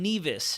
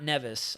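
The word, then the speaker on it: Nevis: the storm it's pronounced neas okay we're going to have a whole lecture going on in here right now so it's Nas sa kits and neas not nevas I've heard nevas so many times St kits and neas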